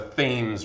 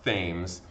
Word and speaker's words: Thames: It looks like Thames, like the Thames River. It's not pronounced Thames, okay? It's pronounced the Thames, okay?